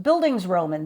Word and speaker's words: Bildungsroman: Bildungsroman? Bildungsroman. That's right. That's how you say it.